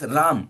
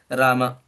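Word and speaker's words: राम: is they I mean usually pronounce it as Ram instead of pronouncing Rama. The original pronunciation is is when you write unless you have this haland it's pronounced as Rama I mean it's not Rama but not Ram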